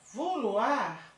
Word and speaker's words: vouloir: E o verbo vouloir, né? Que como é que pronuncia isso?